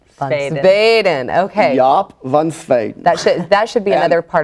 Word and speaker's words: Jaap van Zweden: So Jaap van Zweden. Zweden. Okay. Jaap van Zweden.